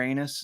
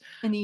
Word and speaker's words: anise: Star anus? No. That's how you pronounce that, right? Star anus? Anise. Maybe it's star anise.